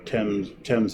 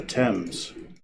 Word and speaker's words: Thames: Then there's a local company called Thames Valley. Or actually, they pronounce it wrong.